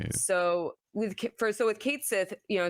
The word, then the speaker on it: Cait Sith: interesting that in Advent Children they did give Kate Sith the Scottish accent right they do acknowledge it